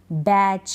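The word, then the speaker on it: batch: तो इन सारे स्पेलिंग्स में टी के बाद सी एच है। टी को हम नहीं पढ़ रहे हैं, टी का उच्चारण नहीं होता, ये आपको ध्यान रखना है।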